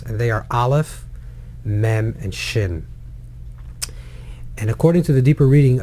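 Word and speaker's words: מם: is the mem because when you pronounce the letter mem you close your mouth it's mm and the end of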